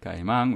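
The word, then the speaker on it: caimán: diamond okay mine and that would be spelled where's the C I ca I am Amy n okay right guy among with the accent mark on the last one of the first things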